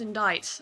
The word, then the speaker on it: indict: Indict is pronounced indict. I don't understand this. The English language is confusing.